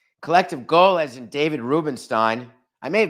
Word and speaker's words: Rubenstein: regular show Dad Collective go as in David Rubenstein I may have mispronounced his name yesterday I may have said